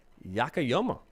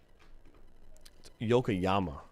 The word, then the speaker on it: Yokoyama: to back to ray yakayama i always pronounce his name wrong yokoyama i gotta get that right yokoyama to buff buff